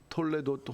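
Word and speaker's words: תולדות: 톨레도트 혹은 톨도트라고 읽혀지는 이 족보가 바로 구속사를 함축하는 족보라는 거죠.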